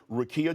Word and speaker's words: Rickea: But last night on my podcast, Nightcap with Ocho and I mispronounced Rickea Jackson. I said Ricky. So I want to apologize to her personally. Rickea Jackson, congratulations to you being selected for number 4 overall to the LA Sparks.